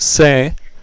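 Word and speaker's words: sé: it to be but the Jo form is pronounced say and is s e with an accent mark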